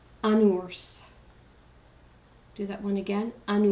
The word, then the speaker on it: ours: Un ours, this is another exception. S's are not normally pronounced. In this word, which means bear, like a teddy bear, a bear, the S is pronounced. Un ours.